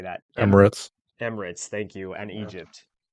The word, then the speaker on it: Emirates: Emirates.